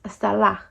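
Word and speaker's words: צלע: rib is referenced as Hebrew 6763, which is pronounced salah, which literally means side of a person or figuratively of an object.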